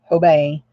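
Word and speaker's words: Hobé: and March ho Bay H OBE but it's pronounced tobei h OB e with a never in person accent mark over the e age OBE obey and I can show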